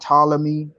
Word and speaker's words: Ptolemy: was called again the ptolemy map how you spell that todd ptolemy it's p p wave wait spell that again p it starts with a p the p is silent okay p o p